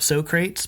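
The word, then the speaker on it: Socrates: Uh, Bottoms Up So Crates by Clutch off of Pitchfork and Lost Needles in 2005, of course.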